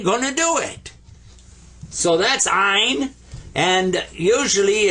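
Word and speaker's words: عين: is ina and I you kind of squeeze the back of your throat when you pronounce this one and I was told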